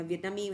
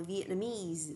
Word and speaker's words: Vietnamese: Một là the Vietnamese, nhớ là trọng âm rơi vào âm cuối cùng, người đọc là mees lên đúng không ạ? The Vietnamese hoặc là Vietnamese people, ok chưa ạ? Đây là hai từ các bạn nhá, đừng đọc từ này là Vietnamese mà đọc là Vietnamese lên ạ, được chưa ạ?